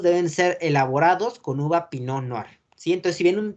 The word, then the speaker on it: Pinot Noir: La T no se pronuncia y es Pinot Noir.